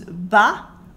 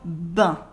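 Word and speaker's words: bah: french people will often use an informal degraded pronunciation for ebbia we would use ba or ba for example we would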